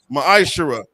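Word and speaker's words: מעשר: beats 10th in the hebrew it's pronounced maisha 10 of every penny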